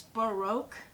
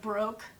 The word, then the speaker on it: Baroque: For brown, I love MAC, and it's Baroque, but the way they spell it, I think it's like broke, like I'm broke, I have no money because I bought eggs today.